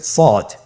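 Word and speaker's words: ص: শুরুতে আমরা শুরু করছি সদ সদ হরফটি পুর হরফ মোটা হরফ উচ্চারণ ক্ষেত্রে মোটা করে পড়তে হবে এবং উচ্চারণ করার সময়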